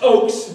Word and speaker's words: Ochs: It's pronounced Ochs, but it is we are in the same group there.